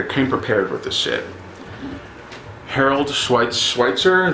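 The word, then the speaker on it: Harold Schechter: Harold Schweitzer, that's how you say his name, who wrote the Serial Killer Files.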